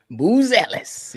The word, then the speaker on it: Buzelis: You pronounce it Buzelis? Buzelis. Yes, sir.